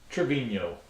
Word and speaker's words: Travino: TapRoom himself, Travino. Yeah, did I pronounce that right?